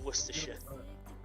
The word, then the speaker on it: Worcestershire: Yeah, if you were to read it, it would say Gloucester Shire, but we pronounce it Gloucestershire, just like Worcestershire.